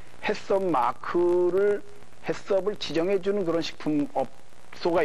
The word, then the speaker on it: HACCP: 그래서 HACCP를 그냥 햇섭이라고 그냥 발음을 하는데 햇섭 마크를 햇섭을 지정해주는 그런 식품업소가 있습니다.